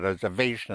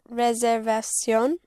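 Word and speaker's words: reservación: And reservation would be reservation. Reservation. The V is pronounced with your lips.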